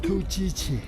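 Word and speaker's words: ཐུགས་རྗེ་ཆེ: Tu chi chi.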